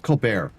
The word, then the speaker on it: Colbert: How do you say his name? Colbert? It's Colbert. Yeah.